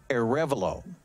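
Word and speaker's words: Arevalo: believe again this is arnie or avalo excuse me a revolo that's how they told me how to pronounce that so a revlo at the plate and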